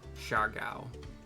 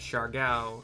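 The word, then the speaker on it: Siargao: Unless it's like Shargao. Because Shargao is S-I-A-R, pronounced Shar.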